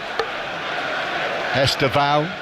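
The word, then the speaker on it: Estêvão: Pedronetto playing on the left hand side with Estao over on the right hand side as he called himself on the official pronunciation video but I think Esa has become more the accepted way of saying his name.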